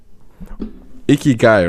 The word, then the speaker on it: Ikigai: Remind me of how the pronunciation for this project goes again. Ikigai, right?